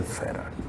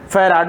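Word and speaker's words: farad: यानी कि कैपेसिटेंस का ऐसा यूनिट तो क्या हो गया, फैराड बोले ना, कि कोई फैरेड भी बोलता है। अब चलिए जो प्रोनाउंसिएशन हो हम लोग फैराड ही बोलेंगे, तो कैपेसिटेंस का यूनिट जो है फैराड बोलेंगे, ऐसा यूनिट।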